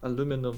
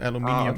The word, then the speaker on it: aluminium: Aluminum is the American way, and aluminium is the European way. I guess they just didn't want to pronounce the extra 2 letters.